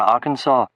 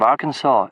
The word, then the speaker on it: Arkansas: Clinton, who was from Arkansas. It was only in that moment that I realized that the state of Arkansas is actually pronounced Arkansas, not Arkansas. I'd been hearing Arkansas, but had no idea where it was.